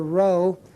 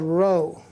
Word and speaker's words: rho: p in English but it's a row it's equivalent to an R and it's pronounced like the r in the word run R sound it's called rho each one of these